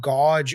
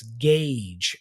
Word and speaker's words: gauge: next word we have is gagee it's not gge or gouge nothing like that it's Gage as you can see here here look that